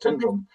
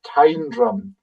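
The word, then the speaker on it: Tyndrum: And people say they've heard locals sing Tindrum and it's not Tindum. It is Tindrum. H that's because it comes from house of the ridge.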